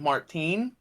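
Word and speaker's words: Martinie: per I'm pretty sure his last name is pronounced uh it's Ryan Martine from Mudvayne okay um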